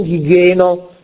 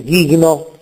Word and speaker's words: gigno: scompare non è pronunciata gigno non Gheno ma ghigno perfetto genui terminazione We